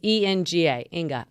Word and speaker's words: Enga: Yeah, so it's ENGA, Inga.